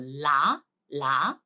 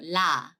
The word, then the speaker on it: ㄹ: It's not R, it's not L. You have to pronounce it like L, okay? So la, right?